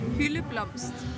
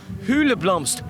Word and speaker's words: hyldeblomst: is not alcohol hula blue are I can't pronounce how do you say hula blomster healy plums hula Blom's 20 years later and I can't even say